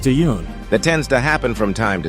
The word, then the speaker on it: Tan: his name wrong too I believe it's pronounced tun that tends to happen